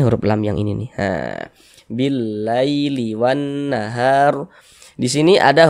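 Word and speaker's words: بالليل: Maka cara membacanya itu mudah, lunak, lembut gitu. Nah, billaili, billaili. Jangan ditekan-tekan, jangan dibaca billaili, jangan. Nah, kelembutannya nggak ada kalau ditekan-tekan gitu.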